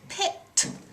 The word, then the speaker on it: picked: And also here, you went all the way to the end on picked and got that tricky sound at the end, the T sound.